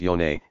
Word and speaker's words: yoni: The yoni massage. Yoni, pronounced yone, is a Sanskrit word for the vagina that is loosely translated as sacred space or sacred temple.